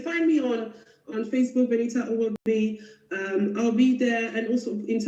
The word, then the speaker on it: Owobi: But now, the way you pronounce your name, I'm going to pronounce it the African way because you are pronouncing like an English girl. So I'm going to say her name is Benita Owobi.